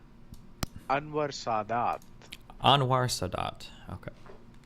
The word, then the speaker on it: Anwar Sadat: Anwar Sadat. Anwar Sadat. Okay. The only way I pronounce Middle Eastern things, I just try to put the emphasis on the last part of the Anwar Sadat had signaled